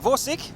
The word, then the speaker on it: Vorsik: We have Lusik in the AMX-50B, Vorsik, that's how you pronounce it, in the E3, Diodor in the E100, and Armageddon in the IS3.